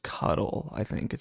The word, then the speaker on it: KDL: Um, but KDL is uh it's supposed to be pronounced cuddle.